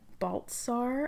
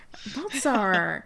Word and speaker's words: Baltsar: I have today Baltsar. I should have asked you how to pronounce that. No, that's perfect, yeah. Baltsar.